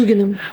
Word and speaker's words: Дугиным: Сейчас в Москве при РГГУ, Российский государственный гуманитарный университет, создана высшая политическая школа во главе с Дугиным. Или Дугиным, я не знаю, как правильно произносить. Дугиным. Дугиным, да, хорошо.